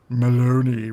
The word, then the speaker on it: Maloney: And apparently the mandate is Maloney, rhymes with baloney, which is why I think everything is a lie anyway.